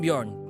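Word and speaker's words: Björn: I'm saying it wrong am I saying it wrong y y is it y closer y it's the the the second one it's closer YN yeah okay I'm bjor and I study neurology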